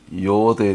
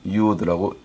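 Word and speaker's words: יוד: 오늘은 히브리어 알파벳 10번째 순서인 요드에 대해서 공부하겠습니다. 순서상 10번째이고 숫자값도 10이 되겠습니다. 발음은 요드 혹은 유드라고 읽습니다.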